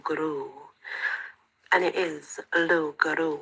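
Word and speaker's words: loup-garou: Guru and it is laru if you study the French language and I have you do not pronounce the end bit that's why I think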